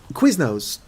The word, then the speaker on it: Quiznos: The Quiznos thing, I just say because it rhymes with business, kind of.